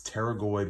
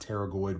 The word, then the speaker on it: pterygoid: It's pterygoid with a P, all right? Not pterygoid with a T. The P is silent, just like in pterodactyl or pneumonia. The P is not pronounced. It is not pterygoid.